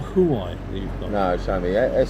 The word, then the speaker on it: Huawei: But the Huawei is the one with no place to Huawei, not Huawei. Huawei, you pronounce it.